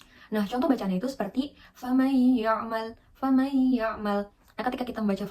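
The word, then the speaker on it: فمن يعمل: membaca famay ya'mal gitu kita bisa eh mencontohkan dengan memegang hidung gitu Apakah ketika kita baca itu sudah berdengung gitu kayakay yamal kalau misalkan hidung kita bergetar berarti ya sudah betul bacanya kemudian lanjut yang kedua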